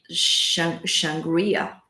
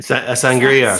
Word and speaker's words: sangria: So So it's like um I'm making myself a uh shangria. A sangria.